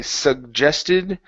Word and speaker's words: suggested: Okay, we have a double G, just like with accent. We had to say accent. Here, this is going to be hard G. Now we're going to say the J sound.